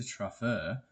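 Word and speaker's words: Truffert: Truffer, as I've been told it's pronounced. Truffet. I got told it was Truffer, so we're going with that.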